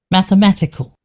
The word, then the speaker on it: mathematical: So, they they definitely pronounce the e the e sound, but it's more of a of a schwa sound, I guess. So, let's listen to them. Mathematical.